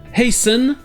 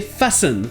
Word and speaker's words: hasten: Vous aurez la même chose avec les verbes hasten et fasten. Mais le truc marrant ici, c'est que ces verbes viennent de mots où le T est prononcé. Le nom haste, la hâte, devient le verbe hasten, qui veut dire se hâter, se précipiter, et l'adjectif fast devient fasten.